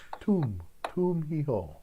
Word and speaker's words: Tum Hi Ho: I was saying it wrong. Tum, like a tomb. Tum hi ho.